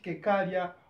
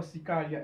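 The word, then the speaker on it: cercaria: Depending on how you pronounce it, you can either pronounce it cecaria or cicaria.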